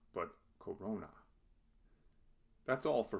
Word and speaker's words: corona: this word illustrates how the accent shifts to the second to last syllable in a word of three or more syllables when the second to